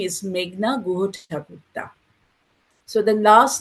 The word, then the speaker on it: Meghna Guhathakurta: Okay, my name is Meghna Guhathakurta.